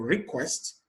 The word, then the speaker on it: request: And for request, the stress is on the second syllable.